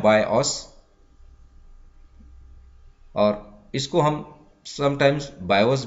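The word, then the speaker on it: BIOS: बायोस को pronounce किया जाता है बायोस, और इसको हम समटाइम्स बायोस बोलते हैं, रोम बायोस बोलते हैं, या पीसी बायोस बोलते हैं।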